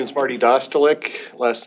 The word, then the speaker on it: Dostalik: I would ask for the, representative of Mid-American Energy or Marty Dalstick to come forward. Hi, my name is Marty Dostalik. Last name is spelled D-O-S-T-A-L-I-K.